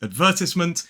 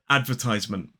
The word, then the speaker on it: advertisement: But technically, in a modern British RP accent, this word is advertisement. 4 syllables, stress on the second.